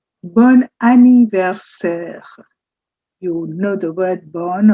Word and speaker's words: bon anniversaire: It's called "bon anniversaire". "Bon anniversaire". You know the word "bon" already with "bonjour" and "bonsoir". So, this is a ni ver ser. "Bon anniversaire". It's like one word continuing.